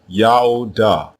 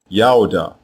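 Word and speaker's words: יהודה: Both of these versions are pronounced the same way, Yaoda, Yaoda, and it means Yao is praised.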